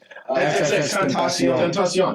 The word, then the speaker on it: Tentacion: How do you pronounce his name? Help me out. Tentacion.